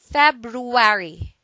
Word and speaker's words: February: a sentence even in February the place is busy we don't like two syllables in a succession with an R so some of us dump the first one in this word most dictionaries now accept